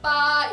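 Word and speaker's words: 八: 8의 발음 빠, 이게 중국에서는 화자이, 돈을 벌다, 돈을 벌다라는 단어 화자이와 발음이 비슷하기 때문이에요.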